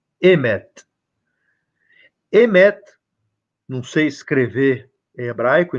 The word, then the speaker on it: emet: Emet, não sei escrever em hebraico, embora consiga ler alguma coisa, mas a pronúncia emet.